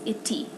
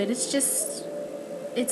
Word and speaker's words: iti: For instance, the word for tree is iti, and it's spelled ITI. So the I can have that I type sound, but it can also have that more E sound.